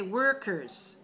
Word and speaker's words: workers: Okay, so your lips should be the same for the 2 syllables. One has O-R, one has E-R, but both of them are er.